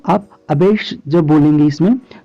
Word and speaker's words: abash: तो ये पहले वाले में जो प्रोनाउंसिएशन है वो अबेस है और दूसरे वाले में जो प्रोनाउंसिएशन है वो अबैश है, ठीक है। यानी स और श का अंतर है, यानी एक वाले में